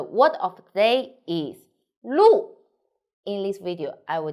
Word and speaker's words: 路: i'm sunny the word of the day is lu in this video i will teach you how to pronounce it how to write it and how